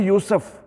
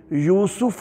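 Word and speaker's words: یوسُف: ہے صحیح تلفظ۔ اور اکثر ہم بولتے ہیں یوسف، یہ یوسف نہیں ہے، یہیں پہ دیکھ لیجیے یوسف ہے، سین پر زبر نہیں ہے، پیش ہے۔ اور یونس بول دیتے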